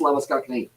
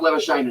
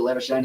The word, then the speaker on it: Labuschagne: South Africans, it is Lavascakini that you do pronounce it, but Labuschagne, he calls himself Labuschagne, and also his father with the last name Labuschagne calls it Labuschagne as well.